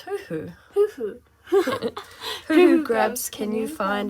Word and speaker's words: huhu: grubs how many tasty hoo-ha gloves can you find her isn't that how you say it no it's huhu who grabs can you